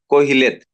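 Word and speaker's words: Qoheleth: name of this book in the Hebrew is Kohhil. The spelling is Q O H E L E H but then it is pronounced as Cohilit.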